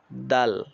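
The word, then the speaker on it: دال: দালের উচ্চারণ শক্ত ও পাতলা আওয়াজে, দাল দাল দাল।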